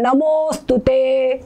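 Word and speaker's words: नमोऽस्तुते: अ का लोप हो के ये जो अवग्रह चिन्ह जैसे नमोस्तुते नमो और ये अवग्रह चिन्ह लोप हुआ है। ठीक है? ये अवग्रह चिन्ह लोप हुआ है। नमोस्तुते ऐसा पढ़ेंगे। नमो यहां पे दीर्घ उच्चारण होगा।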